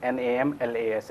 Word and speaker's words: Namlas: So you just inverse it, and it becomes NAMLAS, and it is pronounced as Namlas.